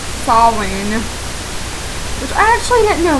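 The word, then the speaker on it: Samhain: many many other names Sam ha is pronounced SE or sain which I actually didn't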